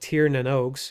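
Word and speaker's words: Tír na nÓg: So basically, the Alfheims, which in this game are called Tir Nanogs. If you're wondering how that's pronounced, it's Tir Nanog.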